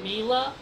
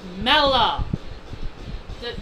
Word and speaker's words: Mela: wrong people call her Mila it's Mella it's Mela it's Mela her name is pronounced as Mela not Mila I know people can